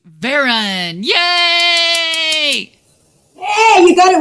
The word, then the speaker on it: Varon: to correct them anymore, but it's Varon. It's very boring. Karen. No. Yeah, just it's normal. It's just, yeah, people add that little accent on the end, but it's not that fancy.